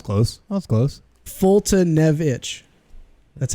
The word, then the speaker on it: Foltynewicz: what she said multi new exclus how bad foltynewicz now it's closed mouth closed Fulton evich that's how it's pronounced doesn't even make sense for the spelling